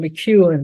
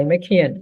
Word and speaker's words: McKeon: workshop with Ken, and I always pronounce him McEwen, but I heard his name now pronounced differently. But McKean, is that how you pronounce it, Ken? I think I've heard it as McKeon. Okay, McKeon. Okay.